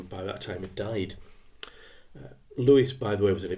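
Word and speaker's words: Lewes: called G H Lewis and again you might pronounce it l DAV is l e Wes but I'm going to say Lewis now Lewis was a Critic he was one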